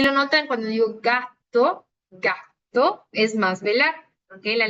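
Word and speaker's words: gatto: escribe, cómo se pronuncia, solo que nosotros, porque lo escribimos con doble T, se escucha un poquito más marcada la T, ¿no? Porque es doble consonante. Y si lo notan cuando digo gato, gato, es más velar, ¿ok?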